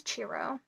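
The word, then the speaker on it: Ciro: marquetti um and I did look up how to say his name and it is chiro so if anybody is wondering how to say chiro maretti's name it's churro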